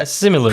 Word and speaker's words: Simu Liu: First Marvel film with an Asian superhero, Shang-Chi and the Legend of the Ten Rings, starring Simu Liu. Is that how you pronounce it? Yeah. Simu Liu.